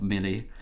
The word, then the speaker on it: melee: I learned that this is melee, not melee.